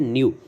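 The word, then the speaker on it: ν: से रिप्रेजेंट करते हैं, और इसे हम प्रोनाउंस क्या करते हैं, न्यू, मीन ई डायरेक्टली प्रोपोर्शनल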